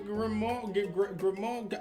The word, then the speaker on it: grimoire: A grimoire, like a book of spells. Oh, is that how that's pronounced?